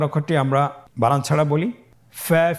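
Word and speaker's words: ف: প্রিয় শিক্ষার্থী বন্ধুরা, আজকের দার্সের পরবর্তী হরফটির নাম হলো ফা। ফা জবর ফা, ফা জের ফি, ফা ফি। আবার বলুন ফা ফি। ফা পেশ ফু, ফা ফি ফু, ফা ফি ফু।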